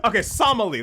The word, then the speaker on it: Somali: It's Somali.